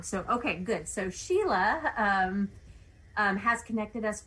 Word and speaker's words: Sheila: it show it's sheila it's actually spelled wrong on the screen it's spelled shelia but pronounced sheila so every everyone asks